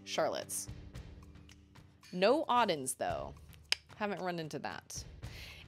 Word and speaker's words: Auden: Somebody called her Uden once. I was like, what? It's spelled A-U-D-E-N.